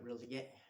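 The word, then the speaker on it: R'lyeh: seem to be chanting about this city called Relie, I think is how it's pronounced, and where Cthulhu sleeps, and it's this sunken city out somewhere in the water.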